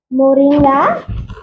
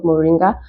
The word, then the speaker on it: Moringa: okay turn it around um how do you pronounce this Moringa oh Moringa yes so Moringa is also a natural multivitamin